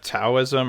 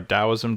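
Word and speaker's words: Taoism: uh big mind vipasa taism or dosm depending on how you like to to pronounce it um you spent a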